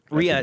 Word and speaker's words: Rhea: But Bob Odenkirk in this, specifically Bob Odenkirk and, I always forget how it's pronounced, Ray Seahorn, Kim Wexler. Rhea Seahorn, Rhea.